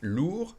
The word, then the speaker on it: lourd: Elle porte un sac lourd. We don't say the D. It would be for the feminine. You'd add an E and you'd pronounce the D.